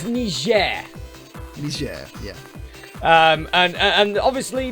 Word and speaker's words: Niger: guinea guinea bissau the one that you have to pronounce it like you're french or people think you're racist we'll see you for that next week sorry it's niger yeah um and and